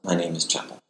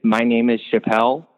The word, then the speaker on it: My Name Is Chapel: because for some reason, despite the word being spelled chapel, like the word chapel, like a church building, so many people for some reason think it's My Name is Chappelle. Don't know why. So my bio right now on it's either Twitter or Instagram literally says pronounced like the church, not the comedian's last name, because for some reason everyone thinks it's Chappelle.